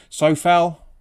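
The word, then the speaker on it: Souček: Sofal, apparently it's how you pronounce it, like Kufel.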